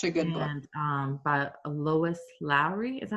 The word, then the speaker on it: Lois Lowry: And by Lois Lowry, is that how you say it?